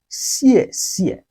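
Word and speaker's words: 谢谢: welcome back once again in chinese we use xiè Xiè xiè xiè to say thank you in chinese language xièxiè literary means thanks so Here when it doubles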